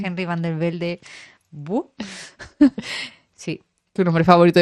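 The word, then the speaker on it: Henry van de Velde: Henry Valdeverde. Henry van der Velde. ¿Bu? Sí. Tu nombre favorito de pronunciar.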